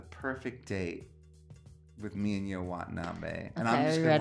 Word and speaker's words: You Watanabe: Yo Watanabe. And it's spelled Y-O-U.